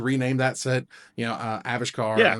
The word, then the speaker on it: Avishkar: pronunciation pres pronunciation correction avishkar is it oh is it although they they put the they put the emphasis on the first syllable avish car got the emphasis is